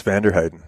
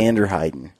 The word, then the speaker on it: Vanderheyden: Yes, Vanderheyden. Very good. Vanderheyden.